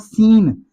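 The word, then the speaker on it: scene: सीन भी एस के बाद सी आ रहा है तो सी यहां पर साइलेंट है तो वर्ड बन जाएगा सीन। एस की साउंड से पढ़ा जाएगा। सी से नहीं पढ़ा जाएगा।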